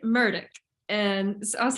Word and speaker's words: Murdaugh: I've met this guy his name is like totally not how it's spelled and is it Alex is it Alec e-l-l-i-c-k I keep saying that I'm like yeah it's Alec murdick and I was like